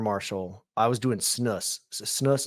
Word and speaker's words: snus: Snus is how you say it, Brandon? Snus. Snuff. I was doing that. No, snus. SNUS. And they said you got to gut it.